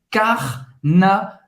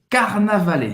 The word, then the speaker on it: Carnavalet: Tem esse R de novo, Carnavalet. E-T em francês, no final da palavra tem um som de E. Carnavalet.